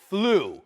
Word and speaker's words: flew: Yesterday I, en casa, flew. No se pronuncia flew, pero flew. Todos juntos, flew. Yesterday I flew to New York. I flew. ¿Ok? Como F-L-U es como se pronuncia. Flew.